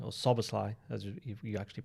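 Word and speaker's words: Szoboszlai: We've got one from Barry McGloin who says, "Do Frimpong and Sabosi or Suslai as you actually pronounce his name?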